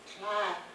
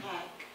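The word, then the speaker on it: tléik': In the language book, it's spelled T-L-E-I-X. T-L-E-I-K, yeah, with a K. T-L-E-I-K, take. All my life I heard it as clack.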